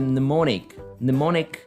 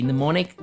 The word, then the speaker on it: mnemonic: So one interesting thing to be said as far as association is concerned is the mnemonic method, okay? Mnemonic goes by MNEMONIC, okay? Mnemonic. You don't pronounce the first M.